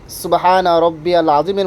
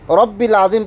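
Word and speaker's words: سبحان ربي العظيم: সুবহানা রব্বিয়াল আজিম, রব্বিল আজিম পড়বেন না, রব্বিয়াল বারবার পড়তেছি, রব্বিয়াল, দেখেন বারবার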